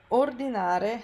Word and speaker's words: ordinare: So ordinare has the stress on the first syllable, which I add here